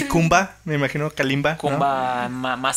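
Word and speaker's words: Khumba: Me imagino Kalimba. Yo creo porque como se escribe parece Kalimba. Es con Kumba. K. Y K-H-U-M-B-A.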